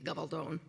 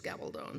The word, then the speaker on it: Gabaldon: Hence the last name, which if we were speaking Spanish would be Gabaldon. If it's English, it's Gabaldon, so, don't worry about it. It rhymes with stone either way.